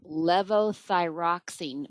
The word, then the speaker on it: levothyroxine: How do you help a patient on 40 years of, I don't know that I can pronounce this, levothyroxine, which is a thyroid med, and has anxiety and high beta?